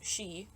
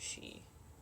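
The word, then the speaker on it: sídhe: to pronounce that well I know how to pronounce she which it's like s d h e like why is that she why is that word pronounced she I don't know and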